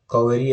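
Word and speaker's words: Kaveri: और मेकेडातू ये कावेरी river, कावेरी एज इट is pronounced in the southern states, कावेरी और कावेरी जैसे भी याद करो, वो मेकेडाटू में एक गॉर्ज फॉर्म करती है।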